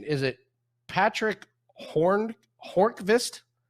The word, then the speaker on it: Hornqvist: Is it Patrick Hornqvist? How do you pronounce his last name? No V, just Hornqvist. Hornqvist.